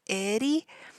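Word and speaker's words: Aeri: isaga edaga Edie now the D and part of Edie the best way I've learned how to say this is it's not an R it's not an L it's kind of um the same sound when you say water and your tongue touches the roof of your mouth and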